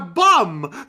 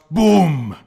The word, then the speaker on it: bum: It's been 3 panels now and he's still calling Stormkiller a bum. Yeah. Bum! I suppose it's bum over there, bum over there, bum everywhere. It's supposed to be pronounced boom.